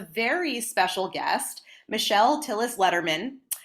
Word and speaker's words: Lederman: special guest Michelle Tillis Letterman rhymes with with David Letterman well not Rhymes but it is like David Letterman but my father-in-law's name